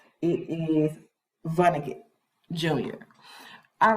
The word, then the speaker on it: Vonnegut: I said his name wrong. It is Vonnegut Jr.